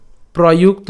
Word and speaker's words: প্রযুক্ত: অথ কেন প্রযুক্ত অয়ং, প্রযুক্ত, এই যে প্রযুক্ত একসাথে উচ্চারণ করলে প্রযুক্ত, একসাথে প্রযুক্ত অয়ং পাপই চরতি, পাপই চরতি পুরুষঃ অনিচ্ছন নপি বার্ষ্ণেয়, বার্ষ্ণেয় বলাদিব নিয়োজিত।